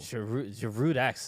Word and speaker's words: Giroud: Giroud-esque. You pronounced the D. Giroud-esque. Because if not, it's Giroud-esque, which I'm not sure.